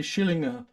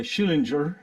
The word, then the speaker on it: Schillinger: don't you study the shillinger Shillings by the way I pronounce it the German Russian way I suppose I know that's in the U.S you always say Schillinger um he said well